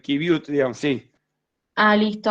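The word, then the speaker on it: qiviut: en otras, el kiwi, no sé bien cómo se pronuncia. Kibiut o kiwit, pero es kibiut, digamos, sí.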